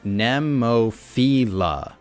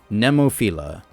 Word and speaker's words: Nemophila: The band, speaking of, the band pronounces their name Nemophila. Nemophila. Ne, like net or wet. And there is no second I, so it's not philia, right?